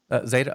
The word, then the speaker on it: Zeda: I pronouncing it right how do you pronounce the company yeah z f Zeta okay z.